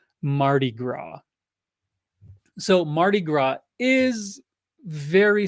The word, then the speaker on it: Mardi Gras: it in the chat it's French and I'm using my Americanized pronunciation Mardi Gras so Mardi Gras is